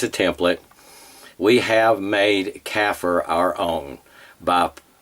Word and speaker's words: kafir: Well, using that as a model, that model as a template, we have made kafir our own by not pronouncing it as those who would be our oppressors do, which is kafir.